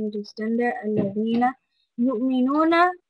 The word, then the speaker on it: يؤمنون: يؤمنون, Hamza was from the bottom of your throat, so you need to make sure that you have that little jerky sound when you say it.